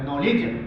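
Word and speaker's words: knowledge: रखना है बस कि हमें के शुरू होने वर्ड के तुरंत एक बाद नो आ जाता है तो उसमें हमें जो है के का उच्चारण नहीं पढ़ना इसका उच्चारण पढ़ेंगे नॉलेज नॉलेज अब यहां थोड़ा सा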